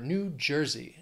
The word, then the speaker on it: New Jersey: we have New Jersey three syllables stress is on well the first syllable of the second word that J New Jersey New Jersey again a